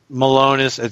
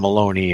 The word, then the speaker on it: Malone: I appreciate that point Malone is how you pronounce his name I'm aloneness yeah Brian Malone is yeah okay so make sure it wasn't Maloney I don't know why key one to say Maloney I don't know but